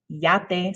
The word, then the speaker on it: yate: one on my list we would say yat in spanish it's yate so it's this same